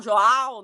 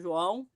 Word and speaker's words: João: the first time, right, João, Joal, right, people can't pronounce it that way, but we'll insist on João.